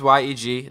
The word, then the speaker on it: YEG: yeg nick message us the proper way to say why eg or yeg no it was it was sent to us it is yeg that is the uh edmonton airport code believe it or not